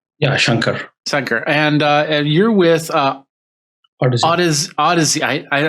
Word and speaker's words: Shankar: Is that how you pronounce it, Shankar? Yeah, Shankar.